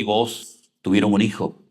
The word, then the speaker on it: Booz: Con Z, Booz. ¿Eres capaz de decir con Z? Booz. Pero no escupas, ¿eh? Booz.